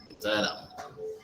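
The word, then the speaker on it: Temitayo Alamu: So um, I'm Timothy Alamu, you know, and the way I pronounce my name can be different from the way people pronounce it because it's my name. So Timothy Alamu.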